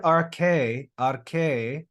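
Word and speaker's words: ἀρχῇ: We don't pronounce that.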